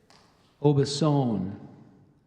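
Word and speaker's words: Aubusson: with a bucolic scene you say it again obasan oh oh B e s o n n e obasan is spelled a-u-b-u-s-s-o-n -dancy you're could I get all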